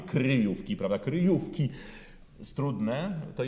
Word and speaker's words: kryjówki: bardzo ważne kryjówki, żeby ten wyraz wyciągnąć, a jednocześnie nie starać się śpiewać z obcym, na przykład czeskim akcentem w sensie akcentowania pierwszej sylaby, kryjówki, prawda?